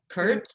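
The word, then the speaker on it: CIRT: it anything i mean are you going to pronounce that acronym oh right uh curt hurt yeah i mean if you prefer we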